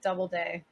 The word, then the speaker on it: Doubleday: Doubleday, just Okay. like it's spelled.